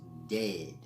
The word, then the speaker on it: Djed: but in any event the world is said is truly pronounced dead and that's important and